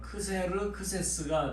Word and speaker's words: 크세르크세스: 크세르크세스 알려지 그래서 이제 헬라어 발음으로는 크세르크세스가 돼요 근데 이걸 영어식으로 발음하면